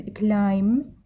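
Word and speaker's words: climb: الامثله ما ننطقه ايش وقت ما ننطقه اذا اجى قبل حرف الام هذا الام تمام مثل كلايم الاي ام السلق كلايم هذا البئء ما نلفظه لام يعني حمل او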